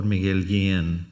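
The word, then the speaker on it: Miguel Guillén: after whom I'm named Dr Miguel again that's how I say my name in Spanish uh was the president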